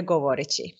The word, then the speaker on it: govoreći: And I said, iskreno govoreći. That suffix chi, do I say it right, chi? Yes. Okay. Govoreći.